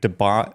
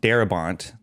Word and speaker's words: Darabont: Uh so uh Frank Debont Darabont I almost mispronounced his name.